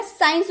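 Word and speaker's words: science: इत्र, साइंस, ये तो हम अच्छे से जानते हैं ना, साइंस बोलते हैं, तो क्या सी का उच्चारण हुआ? क हुआ, साइंस बोलेंगे? नहीं ना, साइंस बोलेंगे।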